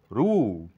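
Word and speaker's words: roux: ফাউ ফাউ এক্স এখানে silent মানে ভুল এটা উচ্চারণ করবো রু রু এখানে এক্স সাইলেন্ট খাদ্যবিশেষ এটা রিসিভ এক্স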